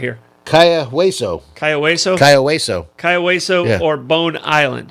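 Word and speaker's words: Cayo Hueso: Kaya-Hueso.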